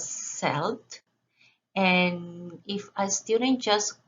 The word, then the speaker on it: Celt: to google and i typed the word celt c-e-l-t and the pronunciation was selled and if i student